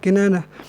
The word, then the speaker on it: Kinanah: Inilah dia Kinanah. Bagaimana cara baca Kinanah? Bikasril kafi, dengan kasrah kaf.